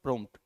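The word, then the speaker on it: prompt: पीरो एमटी का मतलब प्रोमट प इस में अपने आप देखो साइलेंट है यानी कि प्रोमट पी की प्रोनाउंस सेट करके देखो साउंड आ तो रही पर बहुत लाइटली आ रही है यानी कि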